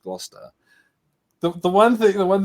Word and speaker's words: Gloucester: were going glow Chester a shire no there was no sure on the end of it by the way it was just Gloucester the one thing the